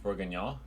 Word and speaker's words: bourguignon: Beef bourguignon. Yeah. Why, is there some other way of pronouncing it? You Canadian No. Frenchie. No, that was the correct way to exactly the correct.